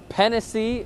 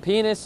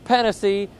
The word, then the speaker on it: Pennisi: It got chippy between Barako's Mick Pennisi. It is spelled P-E-N-N-I-S-I, so it is not penis.